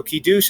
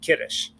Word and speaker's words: kiddush: up of ashkenazic jews use the old ashkenazic pronunciation where you emphasize the beginning of a word and not the end so kidush is often called kiddush and they'll say okay